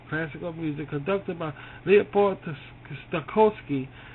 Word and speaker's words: Stokowski: Stokowski. That's how you say it.